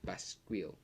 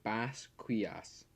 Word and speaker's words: Basquias: in the air and summons Spirit Spear Basquiel. I don't actually know how to pronounce it. Give me a sec. Okay, no, I just looked it up. It's the Spirit Spear Basquias.